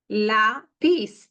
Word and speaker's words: lápiz: Lápiz.